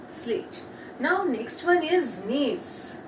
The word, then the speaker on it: gneiss: Now next one is nails. G is silent here.